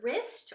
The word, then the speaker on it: wrist: Or the W can be silent, like in the word wrong, or wrist, or Mr.